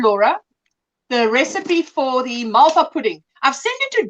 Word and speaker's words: Malva: It's spelled M-A-L-V-A, but we say a soft V. It's Malva. We don't say Malva. We say Malva.